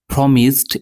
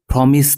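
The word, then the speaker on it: promise: যে শব্দ দুটি আছে প্রমিসড এটি এসছে প্রমিস থেকে আর এর উচ্চারণ দুটি একটি হচ্ছে প্রমিস আরেকটি হচ্ছে প্রামিস মানে প্রার্ এখানে দুটোই সঠিক একটি ব্রিটিশ প্রথমটি ব্রিটিশ আর দ্বিতীয়টি হচ্ছে আমেরিকান আর এটি পাস্ট ইনডেফিনিটে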